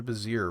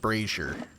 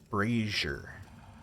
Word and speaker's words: brazier: kindle swiftly in the bazir winding their way upwards brazier i meant brazier that's how you pronounce that brazier is a brawl let me do a save brazier like frasier but with a b uh yeah yeah